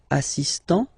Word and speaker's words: assistant: Il est assistant, so don't pronounce the final T here, but for the feminine form, elle est assistante, okay, étudiant, étudiante, assistant, assistante.